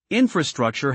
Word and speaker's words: infrastructure: Infrastructure has four syllables. Stress it on the first syllable.